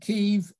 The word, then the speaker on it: Kyiv: and pronounced kiev and it turns out the kiev is the russian uh spelling and pronunciation and kiev is the ukrainian pronunciation uh when uh virtually